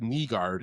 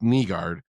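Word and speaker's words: Nygård: EMTT Finny, Michael Brans said Neguard, it's pronounced Nguard and Axel Sandine Pelica 2023 first round picks.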